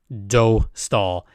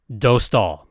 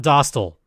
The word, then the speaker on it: Dostal: catch you all up on why we say do stall and the bakery is closed so for those